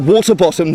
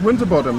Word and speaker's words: Winterbottom: winterbottom no it's not is it water bottom then no it's winterbottom right well you just said no it's not when I said near winter bottom and you just said